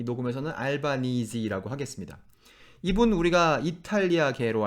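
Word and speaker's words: Albanese: 설명해 놓은 웹페이지에 가니까 그 라스트 네임을 앨버니지라고 읽던가 앨범 니즈라고 읽던가 두 개 중에 하나로 하라는 거예요이 녹음에서는 알바니이지라고 하겠습니다 이분 우리가 이탈리아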